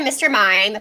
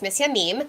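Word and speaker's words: M. Mime: had an extra um everyone calls it mr mime but if you say it in french it's missy a meme oh and so yeah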